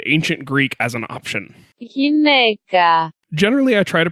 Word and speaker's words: γυναίκα: Γυναίκα. Generally, I try to pronounce foreign root words in this segment the way I've heard them used amongst scientists speaking American English.